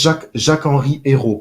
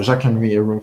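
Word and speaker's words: Jacques-Henri Eyraud: and so it was Jacques-Henri Hérault pronounced in French, so Jacques-Henri Hérault pronounced in English, I would say, who was the president before Pablo Longoria.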